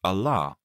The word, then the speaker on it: Allah: his name is allah it is pronounced allah with a long vowel a also god has many